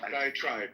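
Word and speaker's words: diatribe: Um, and by the way, the more I think about Dioenesis diet trade, um, diet trap, how do I pronounce that? One of diet tribe tribe.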